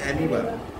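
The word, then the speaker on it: amoeba: irregular for এক্সামপলবি এমিবা স্পেলিংটা এমইবা কিন্তু মুখে উচ্চারণ হবে হচ্ছে মিবা চারলাইন করো আর হোয়াইট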